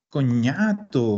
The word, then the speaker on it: cognato: Entonces, en italiano y en francés vamos a encontrar que la GN se pronuncia ñ.